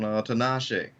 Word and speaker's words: Tinashe: Tinashe, like Tina she, but Tin.